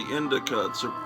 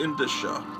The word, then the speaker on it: indicia: Oh, and then I realized, since childhood, I've been mispronouncing, calling this the Indica. It's really Indicia.